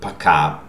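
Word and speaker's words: пока: in the second word paca the stressed vowel is syllable is ka so ah okay this o is not stress that's why it is pronounced ah so please remember that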